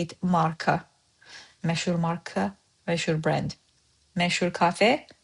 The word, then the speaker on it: Məşhur: In spoken, məşhur olmaq, məşhur, is as if you are saying double sh in this word.